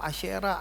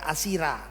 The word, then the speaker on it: Asyera: Kita suka baca Alkitab Asyera, Astoret. Jangan baca Asi. SY itu bacanya SH. Gitu ya. Asyera dan Astoret. Bukan Asitoret, Asira, bukan ya.